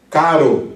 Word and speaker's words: caro: Quando você tem, por exemplo, caro, meu caro amigo, então você tem C-A-R-O, você tem a primeira sílaba K, que é uma sílaba aberta, logo o R aí tem um som mais leve, de menos aspirado, né? Caro.